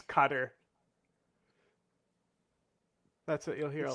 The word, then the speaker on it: Qatar: pronounce it right and they'll say cutter like c u t t e r cutter can you can you